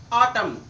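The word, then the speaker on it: autumn: क्या है N silent यदि एम के बाद एन आए तो एन साइलेंट होगा जब भी एम के बाद एन आए तो आपका एन साइलेंट होता है कॉलम कंडेम आटम देखो एम के बाद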